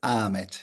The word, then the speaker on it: Ahmet: Hello, Ahmet. Or is it Ahmed? Hello. It is Ahmet. Yes. Ahmed. Yes. Usually in Turkey, we don't pronounce the H, so it's Ahmet.